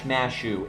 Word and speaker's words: Mash: They just pronounce mash, mashu, right? That's how they do that, right? They add the u to fucking everything with names.